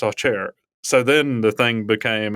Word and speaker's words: Acer: in Alabama uh but she's like no it's pronounced off chair so then the thing